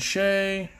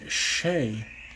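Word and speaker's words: Skjei: my aluminum islander brayden shay that's the name took me a while to get carrie letting brady shea that's how you say that's how you pronounce that guy's last name shea s-k-j-e-i nice job brady so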